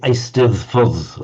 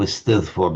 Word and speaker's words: Eisteddfod: Because the Welsh double D is pronounced exactly like our English the sound. The Eisteddfod, I think, or Eisteddfod is.